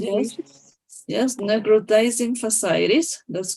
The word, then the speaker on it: necrotizing fasciitis: And in necrotizing fasciitis, that's how you pronounce it? Yes, necrotizing fasciitis.